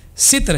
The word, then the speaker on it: ستر: کہ جو پروننسیشن ہے، اس کا جو تلفظ ہے وہ ستر ہے۔ ہم عام طور پہ اسے ستر پڑھتے ہیں، لیکن در حقیقت یہ ستر ہے۔ ستر کہتے ہیں چھپانے